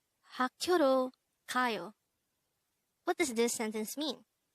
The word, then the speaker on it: 가요: 가요. 가요. This is pronounced as a two-syllable word. The first syllable is ga, second syllable is yo.